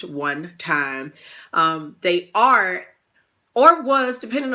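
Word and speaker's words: 1TYM: time now one time they spell it with the number one and in a capital tym it is pronounced one time they are or was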